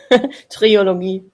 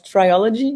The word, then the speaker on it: trilogy: yeah you're right yeah Trilogy triology how do you actually say that in English Trilogy yeah I guess all right in German it's triology but yet actually let's